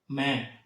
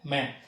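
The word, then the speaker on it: मैं: மே, அதாவது மே கிடையாதுங்க, மே. நான் இந்த இடத்துல தமிழ் எழுதி போடுறத சும்மா ஒரு ரெஃபரன்ஸ்க்காக தான். அந்த மாதிரி எக்ஸாக்டான உச்சரிப்பு வராதுங்க. நான் இந்தியில் எப்படி உச்சரிக்கிறனோ அந்த உச்சரிப்பு தான் நீங்கள் உச்சரிக்கணும், ஓகேங்களா? அது ஒரு ரெஃபரன்ஸ்க்காக மட்டும் தான் எழுதி போடுறேன்.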